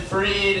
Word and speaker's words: Freed: I am Freed. It's spelled like fried, so I am qualified to host this because I myself am fried.